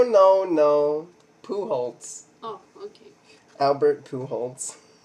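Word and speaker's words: Albert Pujols: no pool oh okay Albert pools that's how he pronounces it okay I'm not joking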